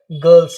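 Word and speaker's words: girls: गर्ल्स। है ना? लेकिन इसका जो सही उच्चारण है वो क्या है? गर्ल्स यानी आर को टोटली साइलेंट कर देना है।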